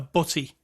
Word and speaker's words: butty: Am I saying it right? Butty. Not really. Butty. Butty. Like B-U-T-T-I-E? Yeah. Butty. Or it could be B-U-T-T-Y. That would also work.